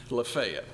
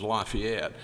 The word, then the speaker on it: Lafayette: just cross the line in Walker County, Lefayet or mispronounced by those French folks is Lafayette, but we call it Lefayet.